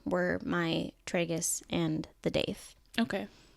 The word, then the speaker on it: daith: Granted, my only 2 that I had with needles were my tragus and the daith. Okay. Some people pronounce those tragus and doth. Oh, interesting. Okay. I don't. Potato. I guess so.